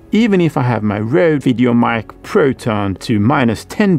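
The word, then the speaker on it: RØDE: hot signal as the Rode. Side note, Rode is an Australian company, and it has its O pierced like a slash as the last letter of the Danish alphabet.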